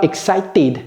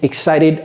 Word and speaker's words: excited: Donc ne dites pas excited, dites excited.